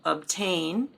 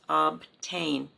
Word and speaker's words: obtain: For example, obtain and obtrude, but those are kind of easier to say because they have a vowel after the T, so it's 2 syllables, obtain, much easier to pronounce.